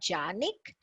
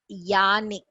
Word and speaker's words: Jannik: For instance, there is a name called Jannik. If we say it in English, we would call it as Janik, but it's not Janik. It is Yannik. Jannik is y.